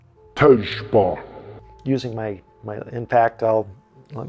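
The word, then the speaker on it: Tezjbar: And I said, Tezbar? And he said, no, Tejba.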